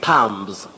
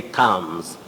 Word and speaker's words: thumbs: Many people say thumbs, mbs. That is thumbs up. without knowing that B is not pronounced in this word. We say thumbs.